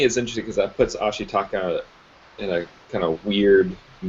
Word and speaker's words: Ashitaka: Ashitaka.